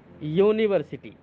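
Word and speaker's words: university: यूनिवर्सिटी, यूनिवर्सिटी वैसे तो यू की आवाज है, और आप जानते हैं कि यू एक यू से शुरू होता है, ठीक है।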